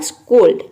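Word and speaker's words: scold: तो यहाँ पे हम आधा स और क के सामने प्रोनाउंस करेंगे तो एस सी क्या हो जाएगा, आधा स और क। उसके बाद यहाँ पे देखिए ओ एल डी है तो ये हो गया ओल्ड। ओल्ड मीन्स पुराना भी होता है, ओ एल डी ओल्ड। तो देखिए ये हो जाएगा पूरा स्कोल्ड।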